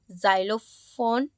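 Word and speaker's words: xylophone: यह नॉक ठीक है अब रूल 10 क्या कहता है कि प्रोनाउंस एक्स लाइक जड एट the beginning of a word कभी भी बिगिनिंग में हमारा x आ रहा है तो हम उसको ज की तरह प्रोनाउंस करेंगे ठीक है जैसे कि जाइलम जाइलोफोन और साइनो फोबी फोबिया ठीक है जाइन फोबिया तो यह हमारा रूल नंबर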